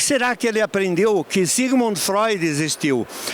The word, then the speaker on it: Sigmund Freud: Onde é que será que ele aprendeu que Sigmund Freud existiu? E ele ainda pronunciou corretamente em alemão Zigmund Freud, né?